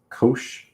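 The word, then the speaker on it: cosh: So the hyperbolic functions, we pronounce these as kosh and shine um or hyperbolic cosine and hyperbolic sign.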